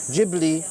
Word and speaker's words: Ghibli: Ghibli.